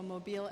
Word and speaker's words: Mobile: I think automobile, so Mobile, Alabama.